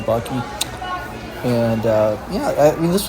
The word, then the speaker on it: Buc-ee: I like their Kentucky Buc-ee t-shirt for sure, and I like the fact that it rhymes Kentucky Buc-ee.